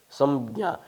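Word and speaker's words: संज्ञा: Samjna is correct. Samjna. One has to close and touch both the lips. Then only the pronunciation will be correct.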